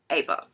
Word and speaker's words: Eva: I want to say Eva Evergreen every time I say that name, but the audiobook does pronounce her name as Ava. So that's what we go with.